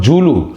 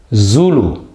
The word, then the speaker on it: Zulu: ghaziabad all right it's not zul it's not julu it's zulu it's zebra so one is ja so this word is pronounced as has the word like result his